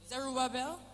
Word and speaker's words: Zerubbabel: Zerubbabel. That's how you pronounce.